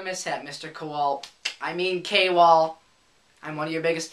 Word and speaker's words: Kowal: His name isn't pronounced Kowal, it's pronounced Kwal.